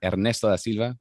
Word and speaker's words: Ernesto da Silva: And I play Ernesto da Silva, or Ernesto da Silva, pronounced correctly.